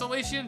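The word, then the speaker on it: Solaceon: so Solan Town Solan I have honestly never been 100% sure how he pronounced his name I think it's salaan town but uh someone wants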